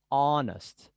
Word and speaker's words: honest: words beginning with h that h is not pronounced like an hour an hour an honor okay for this one